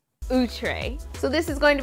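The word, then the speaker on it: Outré: here and don't forget it's actually pronounced ootray ootray so this is going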